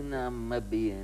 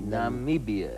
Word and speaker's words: Namibia: Nie Namibia nie, Namibia. Namibia. Dis. Is dit nou die regte uitspraak? Ja, kyk, dit kom van Namib af.